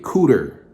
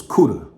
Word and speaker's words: Cuda: i hated the way people pronounced it they pronounced the cooter and i hated the way people overstressed the r in my name so i just told people it was cuda and um so a